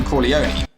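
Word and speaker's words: Corleone: Brando play Don veto Kone or Kon the pronunciation changes throughout the whole movie why don't you say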